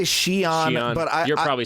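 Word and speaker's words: Xi'an: love it, and I love that you So pronounce good. it correctly because Yeah. everybody says Gion, and they don't have that as a sound in Oh, that really?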